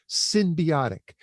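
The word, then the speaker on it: synbiotic: And that's spelled S-Y-N as in Nancy, not S-Y-M, symbiotic.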